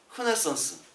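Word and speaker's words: Renaissance: 흐네상스. 흐로 발음합니다. 프랑스 말로는.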